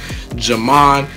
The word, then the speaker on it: Ghiman: Ghiman is how you say and spell my name.